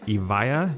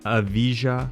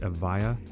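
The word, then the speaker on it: Evija: And last but definitely not least, it's the Lotus Eva, not the Avijia, which a lot of people say the J is silent. It's Lotus Eva is the correct pronunciation of it.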